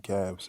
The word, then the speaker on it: Cavs: The funny thing is scabs rhymes with my last name Cavs and I don't like but anyway let's let's let's move on.